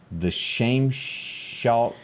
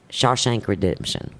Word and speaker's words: Shawshank Redemption: not seen it but i'm fishing fisting to mispronounce it the shame shock how you say it well you stopped talking for a second shawshank redemption that's it if you said it one more